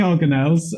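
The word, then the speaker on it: organelle: how is it Alex I would say organel um I mean that's how you pronounce it yeah um so yeah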